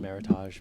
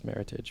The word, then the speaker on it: Meritage: is a Meritage um a lot of people pronounce it Meritage but actually the correct pronunciation is Meritage but um not that we're we're not win